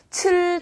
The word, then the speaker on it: 吃: 발음 주의하실 점은요. 吃 처럼 리을 받침이 들어가면 안 되고요. 라고 길게 빼주세요.